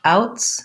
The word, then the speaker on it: outs: forgot my s okay so ins the s says z because uh it is after a voice sound outs the s says s because it's after a voiceless sound so the ins and